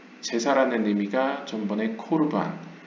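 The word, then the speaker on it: קרבן: 근데 보통 과거 아슈케나즘, 즉 동유럽 유대인들은 이 카메츠를 그냥 있는 그대로 아로 발음을 하는 경향이 많아서 있는 그대로 읽어서 카르반이라고 읽었습니다. 하지만 오늘날 현대 히브리어나 성서 히브리어 학자들은 다 이것을 코로 읽습니다.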